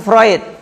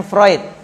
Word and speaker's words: Freud: lolos berarti dari psikologi Sigmund fluid bacanya vroid sama seperti psikologi padanya